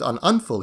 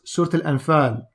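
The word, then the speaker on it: Surat al-Anfal: to ibn abbas surat on unfull he said jeez assad allah is butchering that pronunciation it's not pronounced certain enfin it's pronounced surtil and fern i wouldn't usually be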